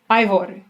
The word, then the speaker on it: Eivør: Eivør for sure is the right way to pronounce her first name.